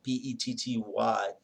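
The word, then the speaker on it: petit: probably were most familiar with is called a petty jury it's spell ptit but it's pronounced by PE tty petty jury and this is a jury of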